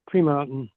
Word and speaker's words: Tremonton: had if you guys had any contacts in Tremonton um because local media reported that some people in in Tremon were able to feel the explosion. We we pronounce it Tremont.